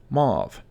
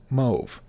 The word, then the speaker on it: mauve: as library number fifteen mauve this is often mispronounced as move number sixteen meme this